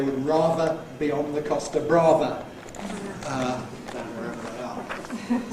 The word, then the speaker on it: Costa Brava: Chaz and Dave sing how they would rather be on the Costa Brava than wherever they are. So there you've got rather rhyming with Costa Brava, pronounced in English as Costa Brava.